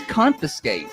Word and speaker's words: confiscate: no second N. You said it wrong so many times, and I thought I was wrong. You messed with my head. It's confiscate. The Thunder Radio Morning Show,